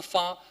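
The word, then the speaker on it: 发: I mean, it is pronounced fa in the southern part of China, especially in Guangdong, which means, wealthy, prosperous, very rich.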